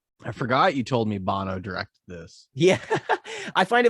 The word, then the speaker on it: Banno: spelt differently it's like if you were to say it with an american accent it'd be banno but it's b-a-n-n-o so it'll be pronounced bono um obviously in like